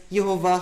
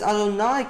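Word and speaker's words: יהוה: This tells us this was not pronounced as Yehovah Kol Bechor. This was pronounced as Adonai Kol Bechor with a hard Kaf.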